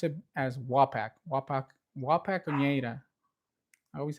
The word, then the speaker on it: Wapak: the Wapaks go basically down to the bottom.